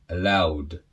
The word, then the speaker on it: allowed: So to pronounce these words in the past, allow, allowed.